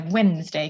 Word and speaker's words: Wednesday: myth is called woden which is where Wednesday comes from that's that's where the D comes from that nobody pronounces um and uh so